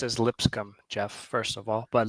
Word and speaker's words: Lipscomb: It's pronounced as Lipscomb, Jeff, first of all.